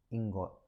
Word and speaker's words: ingot: silicon crystal and that is known as a ingot i got uh i-n-g-o-t ingot some authors are